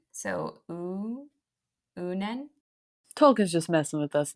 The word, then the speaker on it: Uinen: Well, it said use the UIN as in like ruin. So Unen.